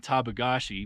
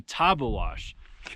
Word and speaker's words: Tabeguache: idiot for years and behind me I've been saying tagashi how do you say it taba it's actually taba wash so not even close but anyway that's where